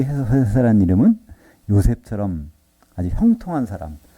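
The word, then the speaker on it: José: 그 특별히 그 라틴계에서는요, 그 스페인 사람들은요, 거기는 요셉이라고 발음을 안 하고 스페인에서는 H로 읽어요. 호세란 이름이 많아요. 호세.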